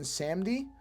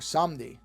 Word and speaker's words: Samedi: He's called Baron Samedi, or Samdi, depending on how you pronounce it.